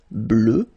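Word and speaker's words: bleue: at the end okay phonetically doesn't exist because you don't pronounce it so you get blue as you would get for the masculine form okay but still you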